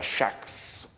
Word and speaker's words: Jacques: di Jacques il malinconico Jacques che in realtà in un inglese arcaico si pronuncia shaks che sembrerebbe quasi no ricordare il il nome di Shakespeare stesso è un personaggio è